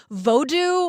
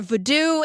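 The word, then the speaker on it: vodou: not what it is it's actually pronounced like vodo or voodo in different ways I'm not going to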